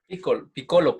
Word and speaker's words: Piccolo: Piccolo, porque no tiene acento en la I.